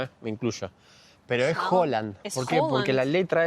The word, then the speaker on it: Haaland: Pero es Holland. ¿Por qué? Porque la letra esa en noruego se pronuncia como una O. Claro. O sea, la A que tiene dos puntitos arriba se pronuncia como una O.